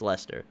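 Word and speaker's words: Leicester: i'm saying i went i can't even think it's spelled l-e-i-c-e-s-t-r it's lester and uh yeah yeah i made sure to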